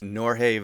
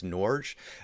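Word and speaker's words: Norge Vera: disappointment ever since then nick l helped me out in the last video where i pronounce norje vera as norge which i was mirroring somebody else that was talking about him this is what it's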